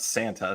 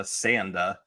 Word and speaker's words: Sanda: So we have our titular Sanda, not Santa, Sanda. Right, because of how Japanese pronunciation works, and also I think Sanda might be a real name.